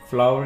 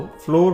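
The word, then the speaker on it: flour: आटे को इंग्लिश में फ्लावर कहते हैं, फ्लावर। अक्सर लोग इसको फ्लोर पढ़ते हैं, तो ये गलत प्रोनाउंसिएशन है, आपने इसे फ्लावर पढ़ना है, फ्लावर।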